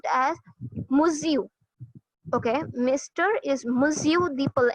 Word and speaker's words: Monsieur: Okay, now this is a French word for Mr. Okay, and correct me if I'm wrong, but it is pronounced as Monsieur.